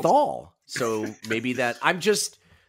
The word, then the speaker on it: Neanderthal: I don't know if that's what's, leading me to pronounce it, as Neanderthals. I'm saying Thal.